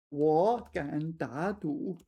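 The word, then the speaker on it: 我敢打赌: Oh, it's really hard to say. 4 consecutive third tones. 我敢打赌.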